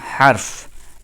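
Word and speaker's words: حرف: আরবি হারফগুলো কিভাবে এটাকে আমরা হরফ বলবো না। আমরা বলব হারফ।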